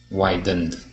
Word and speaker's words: widened: here widening okay close widened widened good yes so we go right to that D sound just like we did